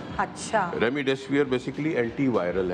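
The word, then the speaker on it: Remdesivir: जिस मैं दोबारा रिपीट करती हूँ, रेमडेसिविर, क्या मैं प्रोनाउंसिएशन सही? बिल्कुल सही, रेमडेसिविर है ये।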